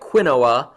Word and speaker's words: quinoa: it it's spelled q-u-i-n-o-a so it looks like quinoa but it's actually pronounced quinoa and there's a picture of a